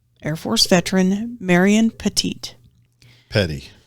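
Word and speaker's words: Pettie: Force veteran Marion petite Petty I think how do you say p-e-t-t-i-e which is what'll throw you off because it's not like Tom the other Petty that we like or or or or the race car driver Petty yeah this one's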